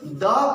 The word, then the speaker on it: the: THE का उच्चारण, क्योंकि THE का उच्चारण दो रूप में होता है। कुछ लोग इसको द पढ़ते हैं और कुछ लोग इसको दी पढ़ते हैं। जी हाँ, द और दी।